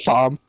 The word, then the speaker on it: Thom: but spelled with an H. TH. Or TOHM. So Tom. Thom, Tom.